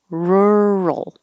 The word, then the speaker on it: rural: the roll roll roll this roll is the same as world so it's almost like world but you're starting with an r instead of a w rural and that means outside